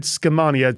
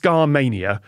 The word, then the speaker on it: Skamania: I said Skamania, something like that. It is just Skamania, which just feels like the early 2000s to me.